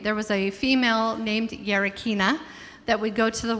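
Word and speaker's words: Γερακίνα: Our next piece is actually pronounced Gerakina.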